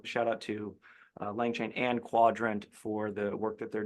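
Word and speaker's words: Qdrant: Also Quadrant, not Quudrant specifically. It's spelled that way, but it's pronounced Quadrant.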